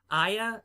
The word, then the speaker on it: Aya: Well, I still want to see it, but Aya, is that how you say it? Aya, yeah.